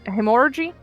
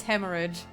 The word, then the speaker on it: hemorrhage: you in English no hemor I've heard the pronunciation of this word and it's Hemorrhage Hemorrhage okay are you